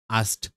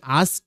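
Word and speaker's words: asked: তোমরা এভাবে উচ্চারণ করবা আস্ট। এইটা কে উচ্চারণ করবা না, তোমরা না করে তোমরা এইভাবে উচ্চারণ করবা ASED, আস্ট। দেখো কেটা বাদ দিয়ে দিবা।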